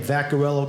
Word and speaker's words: Vaccariello: he got it right I have a long last name vaccarello gets mispronounced all the time but folks I just found out that the correct European pronunciation of my last name is got a yellow and women love that they're like oh my God what does it mean little cow moo moo ladies it's Italian obviously we're the Italian men